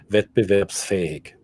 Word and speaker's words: Wettbewerbsfähig: So the ability to have a competition, competitive, wettbewerbsfähig. Wettbewerb. It's an S, not a sh. It's a sound.